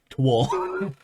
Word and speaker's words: Towl: It's just pronounced it like Twol.